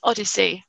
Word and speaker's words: OHDSI: So I'm going to just sort of briefly walk through sort of what is ODSI, as it's pronounced.